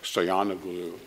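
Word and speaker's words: Stoianoglo: The losing presidential candidate, Stoyanoglu, is that how you pronounce it? Yes. Stoyanoglu is ethnically Gagauz, and Russia plays that card very, very aggressively.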